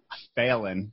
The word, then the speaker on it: Phelan: We have to start over because I need to tell you how to properly pronounce it. Well, say how you say your fucking last name. Phelan, like a test.